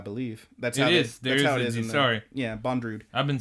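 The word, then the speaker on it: Bondrewd: deity and I believe that's yes sorry yeah bond rude I've been saying boundaries like Andrew with a D in a bo at the beginning bond rude which is a weird name Hey japanese pronunciation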